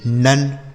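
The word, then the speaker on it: none: है सी से क हो गया ओ का उच्चारण अ और एम ई से म कम एन ओ एन ई नन एन ओ एन ई नन एल ओ वी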